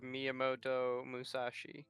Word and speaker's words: Miyamoto Musashi: and the blade of Miyamoto Musashi. I'm pretty sure that's pronounced right.